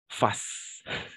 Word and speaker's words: fasse: n'est-ce pas prononcer donc on va tout simplement dire face d'accord pour chaque partie d'accord face que je fasse que tu fasses qu'il qu'on fasse que nous fassions que vous fassiez et qu'il ou qu'elle fasse de la même façon d'accord face on ne prononce jamais un thé à la fin attention voilà face face ici